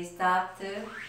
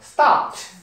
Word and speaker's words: stopped: 이것도 P 뒤에 ED는 또 T예요. 그러니까 발음을 어떻게 해야 돼요? Stopped.